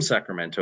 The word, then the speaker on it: Sacramento: Um but also, in Sacramento, if you're from Sacramento, you don't pronounce the T, right?